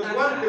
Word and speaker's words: wanted: Todos los verbos regulares que se les pone D, solo esos, que terminan en T o en D, se pronuncian con E.